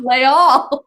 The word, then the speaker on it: Les Halles: Which I don't know why I didn't say this before, which is in France, Les Halles. Oh yes. Leal. It's pronounced Leal.